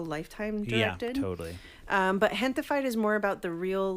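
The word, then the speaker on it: Gentefied: Is that how it's pronounced? Gentified. Oh, okay. So it's like a mixture of gente, which means my people, and then gentrified.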